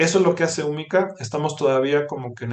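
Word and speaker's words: Húmica: ahí en redes sociales ponen umica con acento en la u hu m i c a este umica eh Y ahí ya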